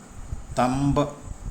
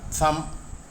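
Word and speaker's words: thumb: finger ചെറുവിരൽ അല്ലെങ്കിൽ അണിവിരൽ തള്ളവിരലിന്റെ English പദമായ തം എന്ന വാക്കിന്റെ റെ ഉച്ചാരണം ശ്രദ്ധിക്കുക തമ്പ് എന്നല്ല സം എന്നാണ് കാരണം എം എന്ന അക്ഷരത്തിനു ശേഷം വരുന്ന ബി സൈലന്റ് ആയിരിക്കും എന്നാണ് പൊതുവേ ഉള്ള നിയമം ഉദാഹരണത്തിന് തം ബോംബ് ബോംബ്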